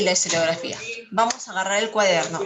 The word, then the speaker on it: historiografía: Histografía. Ay, me comí una sílaba. Historiografía.